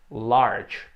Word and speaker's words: large: Um caso clássico é o adjetivo large. Você bate o olho e você diz, esse adjetivo tem 2 sílabas, né? Dividindo aqui, nope. Esse adjetivo tem uma sílaba só.